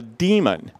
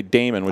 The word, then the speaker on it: daemon: something that's called a demon and a daemon is an old computer science term and it's spelled Dae mo in and sometimes people say daemon really shouldn't it's bad I know and it's